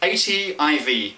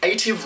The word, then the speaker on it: ATIV: going to say that they had the word native because they want the same os to be native across all of these devices they drop the n and drop the e